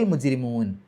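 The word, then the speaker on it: الْمُجْرِمُونَ: എന്നുള്ള നീട്ടൽ നഷ്ടപ്പെടും അയ്യുഹൽ മുജരിമൂൻ മുജരിമ ജീമി സുക്കുന് കൽക്കലത്തിന്റെ അക്ഷരമാണ് എടുത്തു പറയണം റാിന് കസ്ർ ആയതുകൊണ്ട് രീ എന്നുള്ള ഉച്ചാരണം കൊടുക്കുക അവസാനത്തെ നൂന് സുക്കൂൻ ഇട്ടിട്ട് നിർത്തുകും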